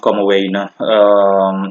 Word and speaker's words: Commewijne: And Comwine is pronounced Comowene, since it's Dutch in terms of origin.